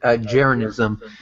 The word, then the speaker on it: Jeranism: He pronounces it Jeranism, but I'll type it out in the side, and he has video after video Of why the Earth is flat.